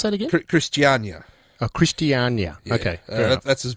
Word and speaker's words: Christiania: in uh in Copenhagen how how do you pronounce that again Christiania oh Christiania okay that's as best as I've